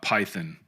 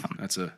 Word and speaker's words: Python: By the way, we pronounce Python Python here in Scotland. Python.